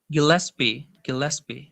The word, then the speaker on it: Gillespie: how do you pronounce it? Gillespie.